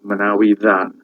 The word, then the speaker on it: Manawydan: So the double D in Manawydan is actually a TH sound, but it's a voiced TH, as in then, not thin, then. Okay, in Welsh, just a TH is a sound, but a double D is a sound.